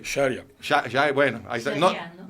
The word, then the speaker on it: Sharia: Sharia. Bueno, ahí está. Sharia, ¿no? Nunca sé dónde poner el acento. Ponlo en la S. Sharia. La Real Academia le pone el acento en la I, pero bueno, Es ¿no?